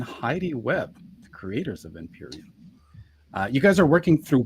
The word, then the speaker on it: Empyrean: It's, please help me with the pronunciation, guys. Yeah, Empyrean. Empyrean, Earth Yay, Illuminated.